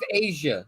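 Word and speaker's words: A'ja: Her name, the way it's spelled, I don't see it as the same. It's still Asia. But it's not because the way it's still Asia. No, because it's pronounced Asia.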